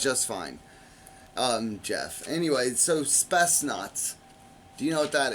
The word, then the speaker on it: Spetsnaz: Anyway, so Spetsnaz. Do you know what that is? A Spetsnaz. And I'm saying it in Russian.